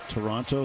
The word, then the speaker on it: Toronto: It's kind of like Toronto. They don't pronounce it with a T either.